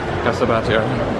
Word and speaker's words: Casa Batlló: Casa Batlló. I learned how to pronounce it.